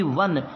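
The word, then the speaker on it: one: एन इसको पढ़ के देखो ओ एन ई वन तो वन व व न वन व व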